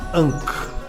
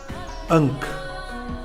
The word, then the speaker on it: Ankh: Sua pronúncia é Ankh, Ankh, Ankh.